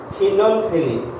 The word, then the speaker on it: phenolphthalein: You pronounce this one as phenolphthalein.